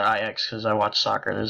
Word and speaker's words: Ajax: a website that uses IX Ajax whatever Oh said I X because i watch soccer the soccer team it's called it's pronounced IX even though it's spelled exactly like Ajax so let me close